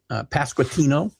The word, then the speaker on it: Pasquantino: Pasquantino.